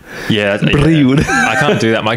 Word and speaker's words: Brioude: Brioude.